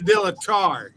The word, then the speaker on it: dilettare: Like I said, dilettare. Spell it. Instead of ta, it's T-A-R-E. Dilettare.